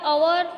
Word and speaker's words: hour: The next one is words like अवर और honesty have a silent H. So when we are speaking the word HOUR, our or honesty, HONESTY, honesty, we are not speaking the H here.